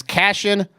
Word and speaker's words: Cashin: It's cashin'. It's like the word fashion with the C.